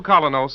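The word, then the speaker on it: Kolynos: personality and charm you can get the new colinos in any drugstore tonight it's spelled k o l y n o colos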